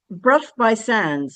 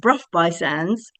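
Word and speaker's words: Burgh by Sands: A quick look at the parish map shows Bruff by Sands and it's spelled Berg by Sands.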